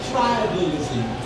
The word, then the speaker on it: tribalism: Can you say tribalism? Tribalism. So it's a weak sound, so that part of the word is going to be weak.